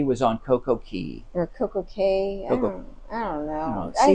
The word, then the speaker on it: CocoCay: I've heard it 2 different ways. I've heard CocoCay it K and Key. Yes, I called it Key, and somebody was like, it's or K, and they're like, it's pronounced Key. I'm like, well, it says CAY, but then the captain was calling it CocoCay.